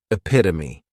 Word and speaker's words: epitome: And this noun has four syllables and the stress is on that second syllable. Epitome.